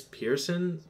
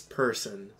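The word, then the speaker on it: Persson: Also, I hated how they're like, Miss Pearson? There's no I, there's no A. It's person. It's P-E-R-S-S-O-N. Person. No comment. This is not Pearson people. It's person people.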